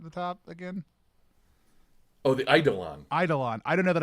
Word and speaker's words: Eidolon: I definitely had a hard E at the beginning of that. Sorry, it's Eidolon. I've been saying Eidolon for like a decade,